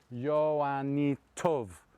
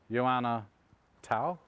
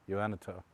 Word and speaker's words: Joannitów: Look, Polish pronunciation, Joannitów. English, Joanna Tau, or To, Joannitów.